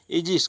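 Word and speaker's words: aegis: कहीं ए ई रहता है, ए ई जी आई एस, तो इसको कहते हैं इजिस।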